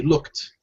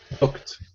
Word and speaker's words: looked: However, we pronounce it with the t. looked. So it sounds like this. Looked.